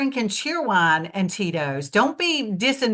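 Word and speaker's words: Cheerwine: I like cheer wine cheer wine is exactly how it's spelled okay cheer wine it's cheer wine okay chan chan I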